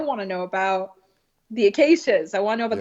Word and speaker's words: Acacea: But then he made the mistake of saying my name correctly, which was Acacia. He was talking about the acacias in his lecture.